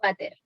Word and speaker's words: VATER: Y en ese caso se mencionan las malformaciones de Vater o de Bacterl, ¿ya? Pero habitualmente uno lo pronuncia como Vater.